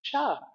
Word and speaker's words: Chih: is called Tai Chi Cha. Cha is that third word. It's spelled Chih, and it's pronounced cha like chuck wagon.